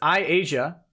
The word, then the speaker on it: Asia: Asia Fraser says, by the way, it's Asia.